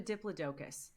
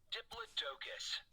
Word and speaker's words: Diplodocus: my daughter's favorites and i called it a diplodocus and many of you saw fit to call me out for mispronouncing it now i respect that we all say things differently but in my defense this is my daughter's book and this is how the man says it diplodocus just in case you